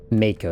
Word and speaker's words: Mako: about it here larger the Mako infantry fighting Mako that's how you pronounce it the Mako infantry fighting vehicle is